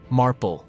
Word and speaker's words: Marple: the Village wise woman Marple rhymes with Marble Marble turns out to